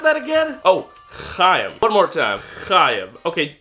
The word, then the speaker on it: Chaim: Oh, Chaim. One more time. Chaim. Okay, you know what? Just imagine there's a piece of popcorn stuck in the back of your throat.